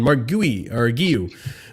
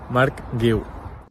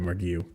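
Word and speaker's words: Marc Guiu: Then on Mark Guiu. Oh, man, I got to play this video for myself. Mark Guiu. Yeah, I fucked that up. Hey Blues, this is how to say my name, Mark Guiu.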